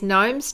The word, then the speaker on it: gnome: I think Michelle says gnomes names usually start with a silent G okay I'm learning something